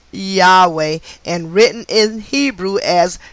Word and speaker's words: Yahweh: the math for the numerical value of yhwh pronounced yahweh and written in hebrew as yod hey hey